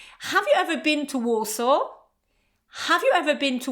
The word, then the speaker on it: Warsaw: And the third word in this category is Warsaw. I live in Warsaw, okay? So again, you can't say, I live in Warsaw, okay? No w at the end. I live in Warsaw.